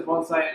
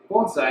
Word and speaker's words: bonsai: How do you pronounce that in the traditional sense? You say bonsai, not bonsai like you may have heard from other people.